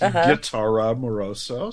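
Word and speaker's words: Gitara Moroso: and it is pronounced guara Moroso so we have a hard G um didn't know that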